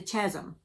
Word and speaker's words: chasm: My sins may be small, but each one adds to the chasm. And I think that's how you pronounce that.